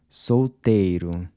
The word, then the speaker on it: solteiro: Solteiro —remember the ‘l’ is pronounced like a ‘w’—“solteiro”.